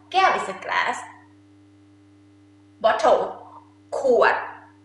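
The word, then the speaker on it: ขวด: Kuat. Kuat.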